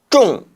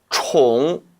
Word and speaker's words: 重: 중복한다는 뜻이기 때문에 이때는 쫑이 아니라 총으로 발음해야 함에 주의하시기 바랍니다.